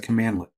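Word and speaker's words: cmdlet: Now, PowerShell commands are based on something known as a command lit. A command lit is spelled cmdle.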